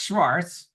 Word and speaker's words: Shvarts: website sounds good so uh again it's Schwarz and many people mispronounce my last name but but that's okay